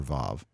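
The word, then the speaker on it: וו: But modern Hebrew uses the V sound, and that's what I will use, as that's more like you will hear it read today. Even modern people reading the classical biblical Hebrew, they'll pronounce it with the modern pronunciation. So that's what we'll use here with the V sound for Vav.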